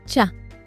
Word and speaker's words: chats: Chats, cats in the plural. The S on the end, completely silent. Chat.